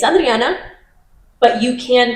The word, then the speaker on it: Adriana: But I always make sure, especially now, I make sure to pronounce my name the correct way. Yeah. So that people understand that it's not Adriana, it's Adriana.